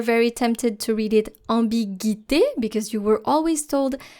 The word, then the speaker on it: ambiguïté: However, the tréma, here the double dots on the letter I, cancels that silence. So basically you're supposed to pronounce the U. So don't pronounce it ambiguïté, but pronounce it ambiguïté. Ambiguïté. So every time you see that tréma on an I, then it actually cancels the silence of the previous letter.